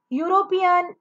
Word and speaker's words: European: European, U, here is also the sound from the consonant.